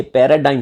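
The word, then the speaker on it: paradigm: जीते जी, क्या, ए पैराडिम shift, क्या कह रहे हैं, ए पैराडाइम शिफ्ट। पैराडाइम का मतलब क्या होता है, इसमें जी साइलेंट होता है।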